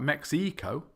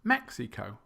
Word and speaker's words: Mexico: It's not Mexico or Mexico. It's Mexico.